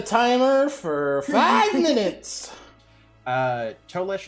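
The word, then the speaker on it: Tolese: for five minutes uh toelish is t-o-l-e-s-e correct correct yep it's very phonetically spelled um so she ran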